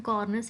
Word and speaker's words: cornice: So remember cornice, the word itself, when you're pronouncing cornice, it's corner, something closer to corner.